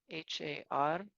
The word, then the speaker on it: Har: chanting the word Har, H-A-R, and try to let the tongue hit the roof of your mouth when you pronounce the Har, the R sound.